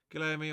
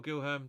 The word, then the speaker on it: Guilherme: Guilherme or Gilherme, depending on your pronunciation and point of view.